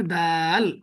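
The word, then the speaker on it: دال: আমরা এই ওয়ার্ডটা পড়ছি না, দাল, এটার কি বলে? দাল, দাল। তাহলে দাল, আহ, বাংলাতে দ, ইংরেজিতে দ, আবার ডির মতো উচ্চারণ হয়, তাই না?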